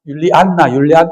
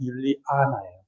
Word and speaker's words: 율리아나: 그래서 우리는 이제 그냥 율리안나 이런데 정확한 발음은 율리아나예요.